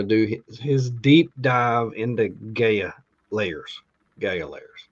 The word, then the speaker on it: Gaia: Is it Gaia or Gaia? I say it. I say Gaia. Gaia. Okay, it's Gaia. GAI. I guess the AI makes it GAIA. I. Okay, Guy. Yeah. Gaia.